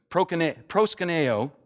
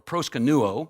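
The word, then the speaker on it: προσκυνέω: Proskuneo, or proskunuo, it can be pronounced two different ways, is the Greek word for worship.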